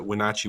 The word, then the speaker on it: Wenatchee: the head coach in the who of the Wenatchee Wild and uh I think I'm saying that